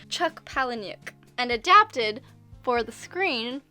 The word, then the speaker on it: Palahniuk: this how do you say his name Chuck Palahniuk and adapted for the screen by Jim mules